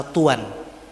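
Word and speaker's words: طوى: Nah, di Gunung Sinai ada lembah namanya lembah Tua. Cara bacanya dua, bisa tua, bisa tuan, pakai tanwin.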